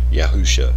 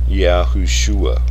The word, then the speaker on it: Yahusha: Thus, we have this name is correctly pronounced Yahusha instead of Yahushua or Yahusha, since the word Shua is derived from the word Yasha, and considering the letter Wah. In this compound is silent, just as a Hebraic tongue restored tells us.